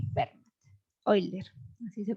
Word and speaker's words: Euler: Euler, así se pronuncia.